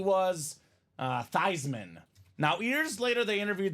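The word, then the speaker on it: Theismann: Dame they say Joe let's change your last name from thian to thyman so we can campaign and go thyman for the Heisman the name stuck the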